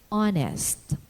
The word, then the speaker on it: honest: h in words sounded sometimes it is soundless in the initial position like the words honest honor air and in the unaccented medial position like vehicle or shepherd the lateral law to